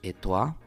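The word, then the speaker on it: et toi: Cada vez vas a pronunciar, cada vez que veas ese diptongo, lo leas, lo veas en una palabra, se pronuncia gua. Sí, por eso decimos etoi. Voilà.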